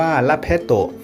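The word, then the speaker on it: လက်ဖက်သုပ်: หรือ เมี่ยง ใบ ชา ออก เสียง เป็น ภาษา พม่า ว่า ล แพโตะ ถ้า พี่ น้อง เข้า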